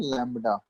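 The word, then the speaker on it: lambda: ये Greek symbol है, इसका प्रोनाउंसिएशन क्या होता है? लैम्डा।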